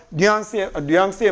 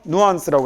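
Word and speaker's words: nuance: 꽤 존재하는 그래서 적절한 뉘앙스에 맞게 이것도 하나 가르쳐주고 가야지. 뉘앙스라는 발음은 불어 발음입니다. 영어로는요 누안스라고 합니다. 영어 발음일 때는 그냥 우리가 일상적으로 쓸 때는 뉘앙스라고 하는 거고 영어 발음으로는 누안스라고 읽습니다.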